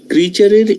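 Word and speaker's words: creature: উচ্চারণ হল এরকম শেয়ার রাইট টিচার এরকম একটা উচ্চারণ আপনি করেছেন সো ক্রিচারের এই ইয়েটাও হচ্ছে এই সাউন্ড আসবে এটার উচ্চারণ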